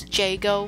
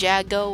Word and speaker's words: Joo: to pronounce my name is Joo not Jago or jco or whatever you guys